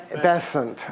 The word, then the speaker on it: Besant: with lead beater and Annie besant am I pronouncing it properly besant okay see I'm learning and um